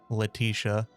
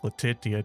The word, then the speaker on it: Leticia: for whenever they add Leticia. Apparently, I've been saying that wrong for a long time, but uh just the way that her name is spelled, it looked like Latitia to me, but whatever.